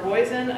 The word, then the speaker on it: Roizen: of Biomedical Engineering, Jennifer Roizen, Assistant Professor of Chemistry, rhymes with poison, I will never forget that.